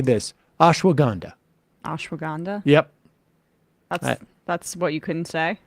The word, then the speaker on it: ashwagandha: but let me just say this ashwag gandha ashwagandha yep that's that's what you couldn't say that's